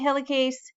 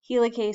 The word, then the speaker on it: helicase: So DNA helicase, helicase. Some people pronounce it helicase. You can pronounce it helicase, helicase. It's okay either way.